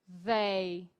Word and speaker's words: they: O TH, ele quase parece o D, né? Mas ele não tem som de D.